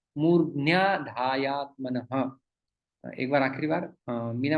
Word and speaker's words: मूर्ध्न्याधायात्मनः: तो मूर्धनी और आधाय, तो ये मूर्ध्न्या बन जाता है। तो इसका उच्चारण आपको ठीक से करना होगा, मूर्ध्न्याधायात्मनः।